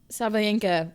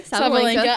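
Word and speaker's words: Sabalenka: I mean, Koko beat Sabayena. Well, I fully just butchered her name. That's okay. Sabalinka.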